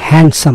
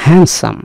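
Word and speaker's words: handsome: বিশেষ ধরনের শব্দ হ্যান্ডসাম কারণ এখানে ডি এর উচ্চারণ হয় না এটাকে বলে সাইলেন্ট ওয়ার্ড আপনারা একটু খেয়াল করবেন এটা হ্যান্ডসাম বলবেন না হ্যান্ডসাম হ্যান্ডসাম শব্দের অর্থ হচ্ছে সুদর্শন আকর্ষণীয়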